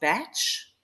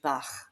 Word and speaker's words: Bach: So in the UK, his surname might be pronounced Batch. Being South African, I automatically go to Bach. But whichever resonates for you, Batch or Bach, either way, these remedies